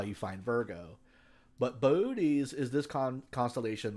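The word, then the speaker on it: Boötes: so first of all what is booties booties and it is pronounced that way is this constellation right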